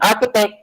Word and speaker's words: architect: complex if he can in architect ch is key and arch is in